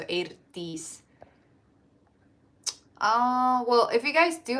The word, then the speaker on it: Eirdís: So EI is pronounced A in Icelandic, and then when you have the I with like the comma at the top, it's E, pronounced E. So Eirdís.